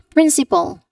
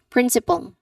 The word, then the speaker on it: principal: Second to the last principle. Principal. This refers to the school head another people inside an educational institution or an educational setting. Principal.